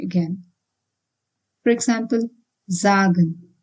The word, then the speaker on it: sagen: word it needs to be pronounced as Z like in busy again for example zagen it's not sagen but zagen And zag means to say.